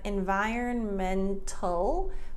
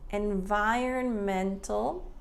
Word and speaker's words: environmental: Now this one's interesting because we have environmental, but Americans often don't pronounce that T there. Are you noticing a trend? The T for us, there's so many variables. Okay, so in this case, environmental or environmental.